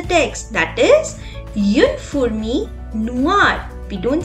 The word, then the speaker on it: noir: For example, noir, that means black. It has an E in the femina, but the pronunciation is same, that is noir.